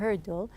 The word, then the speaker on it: hurdle: I told you that when you pronounce the herdle here the r is a bit heavy here as we took in